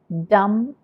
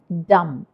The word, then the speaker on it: dumb: ആദ്യത്തെ ഈ വാക്ക് നമ്മൾ ഉച്ചരിക്കുന്നത് ഡം എന്നാണ്. അവിടെ DUMB ഉണ്ട്, പക്ഷേ ബി സൈലൻ്റ് ആണ്. ഇങ്ങനെ ഒരുപാട് ഇംഗ്ലീഷ് വാക്കുകളുണ്ട് ബി സൈലൻ്റ് ആവുന്നത്. അതിലൊന്നാണിത്. ഇത് നമ്മൾ പറയുന്നത് ഡം എന്നാണ്.